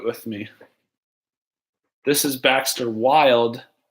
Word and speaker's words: Wild: This is Baxter Wild, Wild with a silent E, not with a silent E, Baxter Wild, aka the Jedi Balloon Master.